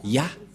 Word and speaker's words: Yah: Ça se prononce Yah.